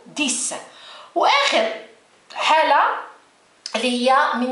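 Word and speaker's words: dix: هادو هنا حتى ولو كاين اكس ولكن ما ننطقوش، ما نقولوش ديكس، نقولو ديس.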